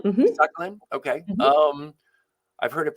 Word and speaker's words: Sakhalin: That's right, Sakhalin. Mm-hmm. Sakhalin. Okay. Mm-hmm. I've heard it pronounced different ways.